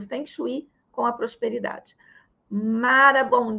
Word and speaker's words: Feng Shui: A gente fala Feng Shui porque é o que a maioria das pessoas conhecem, tá? Mas quando eu aprendi, me ensinaram que na pronúncia correta é Feng Shui.